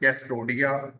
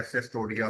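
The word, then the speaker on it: Cestoidea: Class Turbellaria, और then मोनोजीना, और इसे जीनिया भी पढ़ सकते हैं, मोनोजीनिया, और ट्रेमेटोडा, और कैस्टोडिया या सेस्टोडिया, दोनों प्रोनाउंसिएशन ठीक है।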